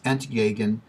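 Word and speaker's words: entgegen: that's the Z now the E and the Z come from German words and I'm going to probably mispronounced these but it's NT aegon for opposite in zou saman for the same so that's where the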